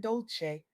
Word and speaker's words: Dolce: I'm your host, Dolce, pronounced dolce, like sweet softness whispered in French, and I'm your guide